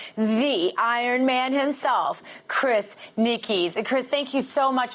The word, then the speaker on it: Nikic: young man named Chris his last name is pronounced Nikki's I want to get it right became the first person